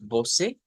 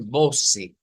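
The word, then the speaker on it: você: Entonces no decimos voce, sino que debe ser voce, voce, que se escuche esta con fuerza, voce. Ahora vamos a ir voce by.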